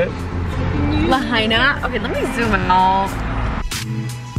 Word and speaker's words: Lahaina: and Lahaina ugly that's how you say it Lahaina okay let me zoom out that was